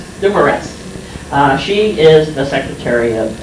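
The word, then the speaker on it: Dumaresq: Dumores.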